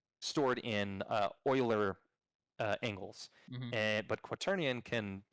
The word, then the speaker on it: Euler: anytime you see this this uh u or e u l e r it looks like euler but it's actually pronounced euler um and it's after the mathematician